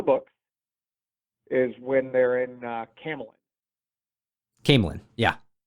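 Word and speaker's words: Caemlyn: is when they're in Camelin. Camelin, yeah. Camelin. I always pronounce it like Camelot.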